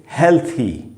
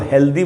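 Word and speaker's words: healthy: इसको हम पढ़ेंगे हेल्थी। हेल्थी अक्सर हम लोग इसको हेल्दी बोलते हैं ना बीच हम लोग एंड में द लगाते हैं। द का साउंड नहीं है दोस्तों। थ का साउंड है।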